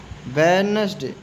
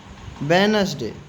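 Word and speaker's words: Wednesday: handsome handsome means खूबसूरत वेडनेसडे वे है ना Venus वेडनेसडे वेडनेसडे D silent है इधर एफ का उच्चारण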